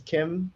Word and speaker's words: Khiem: Yeah, so my first name is Khiem. It's spelled Khiem, and my last name is.